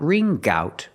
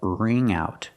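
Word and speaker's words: wring out: Not ring gout, but ring out. Link the sounds.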